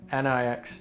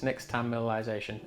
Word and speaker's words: Nixtamalization: That's spelled N-I-X-T-I-M-A. Hang on, do that again. Nixtamalization. Nixtamalization.